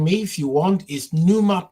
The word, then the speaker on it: Pneuma: So, um, my the quickest way to find me if you want is NUMA podcast, which is spelled as, uh, Papa November Echo Uniform Mike Alpha and podcast, NUMA podcast as in pneumatic.